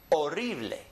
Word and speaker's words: horrible: In English, we say horrible. Well, in Spanish, they say horrible.